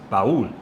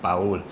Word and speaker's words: Paul: And if you do pronounce my name in Spanish, it's Pul, right? kind of like Raul but Pul.